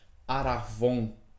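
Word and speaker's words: ἀρραβών: só essa palavra penhor no grego ela é pronunciada da seguinte forma aravon né que é uma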